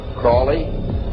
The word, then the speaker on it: Crowley: that I developed information about was an individual I learned about was Aleister Crowley. He likes to have his name pronounced Crowley to rhyme with holy.